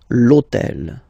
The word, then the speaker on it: l'hôtel: starts with H, but remember that in French we don't pronounce H, okay, so basically the first sound of the word is the vowel O, okay, so for the